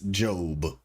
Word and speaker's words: Job: Jo O B, but it's Job cuz that's how it was pronounced uh or that's how it is pronounced properly.